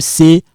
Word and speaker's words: c'est: You cancel this when you pronouncing it. The only thing left is this, which produce it become like say. So this, when I combine this one like this, you don't pronounce that S there, become c'est ma maman,